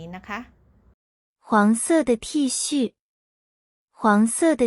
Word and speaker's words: T恤: ไง เสื้อ ยืด นะ คะ ก็ คือ ทชื่อ ใช่ แล้ว ค่ะ ทชื่อ ทชื่อ